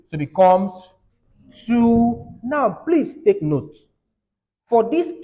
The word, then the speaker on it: ene: Hept, the double bond occurs in carbon 2. So it becomes 2. Now, please take note. For this case, you don't say 2 in. You say 2N. So the second E is silent.